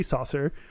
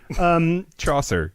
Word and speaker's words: Chaucer: Geoffrey Chaucer Thank You Geoffrey Saucer Chaucer it's Chaucer great Geoffrey Chaucer says